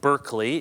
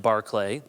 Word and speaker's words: Berkeley: looks to us like Berkeley and the school in California was named after George Berkeley we would say but pronounced Barclay Barclay is famous for